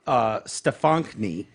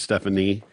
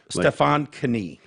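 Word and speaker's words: Stefonknee: And it's Stefankny is how you pronounce that. Stefankny. It's not just Stephanie. There's not the K No. is not silent like a knee. No, Stefan Knie. Okay. Stefan Knee.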